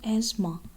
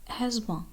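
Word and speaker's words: asthma: jewellery next word है लेकिन इसमें दी ह की आवाज़ साइलेंट होती है उसको पढ़ते हैं इसके करेक्ट प्रनंसीएशन है आज़मा अस्मा अस्मा नेक्स्ट वर्ड जो की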